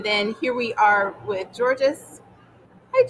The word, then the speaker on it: Georges: So, and then here we are with Georges. Hi, Georges. It's nice to see you. No, I'm going to correct your pronunciation. He's in French. He is Georges.